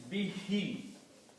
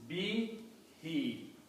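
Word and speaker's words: بِهِ: When you pronounce these together, to make easy on the tongue, we pronounce this be, he. So it is easy, both sounds are coming as kasra.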